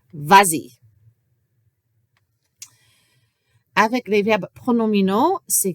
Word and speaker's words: vas-y: Mais si je rajoute un pronom d'objet direct ou indirect, il faut rajouter le S pour la prononciation si le pronom commence avec une voyelle, comme I, et nous avons donc vas-y.